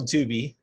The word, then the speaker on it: Tubi: It is on Tubi for those of you out there that want to see another bad.